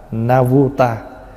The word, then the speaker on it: Navuta: Na do tha là tiếng Phạn đọc là Navuta, tương đương với lại 1 triệu.